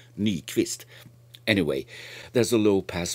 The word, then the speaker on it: Nyquist: pass filter right around Nyquist or should I say any twist because it was a Swedish guy so from the pronunciation should be knee twist anyway there's a low